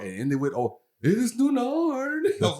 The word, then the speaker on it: Ny: Now, it's spelled NY, so try not to trip up on that. I think it's not nigh or knee.